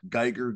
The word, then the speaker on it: Guigar: It's just at Guigar, G-U-I-G-A-R, like guitar, but with a G for a T.